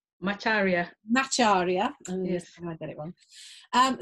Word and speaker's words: Macharia: a month and her name is did i pronounce that correctly macharia macharia yes i got it um so welcome um